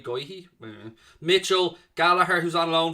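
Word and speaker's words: Guéhi: anderson got uh going i thought how you pronounce that g-u-e-h-y goyhee mitchell galahar who's on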